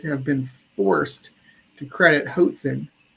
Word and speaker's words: Hoatzin: While these birds are bad at flying, evolutionists have been forced to credit Hoatzin rhymes with Watson's with some impressive rafting.